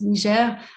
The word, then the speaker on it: Niger: a french speaking background we will stick to the french pronunciation of country names so it's niger we are dedicating our